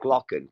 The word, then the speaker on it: Glocken: And in that stone column, there was actual files to say it's called the Glocken, the Nazi Glocken. Glocken is the German word, how to pronounce it. Glocken, bell.